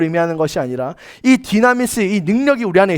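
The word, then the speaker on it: δύναμις: 디나미스. 디나미스라고 발음하는데요.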